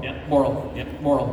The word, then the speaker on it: Borle: Borle. Yeah. Borle. Yeah. Borle. It's like Burl to Boral. Borle.